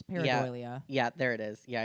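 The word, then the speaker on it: pareidolia: heard before I have that's basically what how you say it it's paradia yeah there it is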